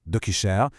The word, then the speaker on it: DoQshare: Aujourd'hui, on va regarder ensemble DocuShare, et ça se prononce DocuShare, une solution qui a été pensée pour nous redonner le plein contrôle sur nos informations les plus critiques.